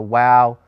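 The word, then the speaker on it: waw: lectures we prefer that W sound or the Wow form of the letter that's the traditional form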